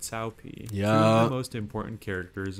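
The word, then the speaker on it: Cao Pi: think in the comments cow cow and cow pee and cow P are both mispronunciations of the name Sao Tao and Sao Pi yeah the most important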